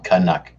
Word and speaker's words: Canuck: No, you're saying it wrong. Canuck.